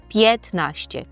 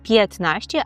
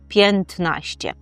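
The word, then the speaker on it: piętnaście: Чому ми не кажемо п'єнтнаще? А все тому, що тут вимова спрощується і ми просто ігноримо вимову хвостика. Так і кажемо птнаще. Петнаще, а не пнтнаще.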